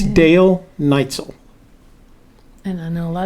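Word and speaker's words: Dal Neitzel: we've had this conversation before his name is pronounced dale neitzel and if you don't believe me go back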